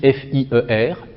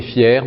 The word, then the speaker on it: fier: Donc, exemple, ce qui s'écrit ici F-I-E-R, hein, mais ne se prononce pas de la même façon. Cet homme est fier, mais peut-on s'y fier?